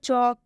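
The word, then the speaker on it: chalk: लेकिन वही यहाँ पर लिखा हुआ है चौक, तो चौक में हम एल का उच्चारण नहीं कर रहे हैं।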